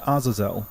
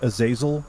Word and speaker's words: Azazel: Not to mention, he directly confronted Azazelle, an ancient being tied to the origin of the devil gene. And for those of you who think the name is pronounced Aazil, you're wrong and should feel bad.